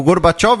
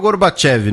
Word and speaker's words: Gorbachev: mikel gorbachov em 1985 gorbachov ou Gorbachev no caso As duas pronúncias são aceitas tá você que nasceu